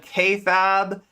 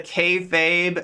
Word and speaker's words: kayfabe: So I famously said K-Fab instead of kayfabe, and Dylan made a